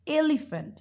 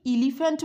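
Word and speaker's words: elephant: দেখো আমি কি বলছি, এলিফ্যান্ট, আমি কি ইলিফ্যান্ট বললাম না, এলিফ্যান্ট।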